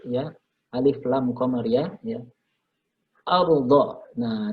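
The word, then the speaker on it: الأرض: Ardha. Nah, di sini ada ra sukun dibaca tafkhim, dibaca tebal.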